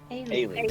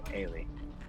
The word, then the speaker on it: Eilidh: Eilidh. There we go. Eilidh.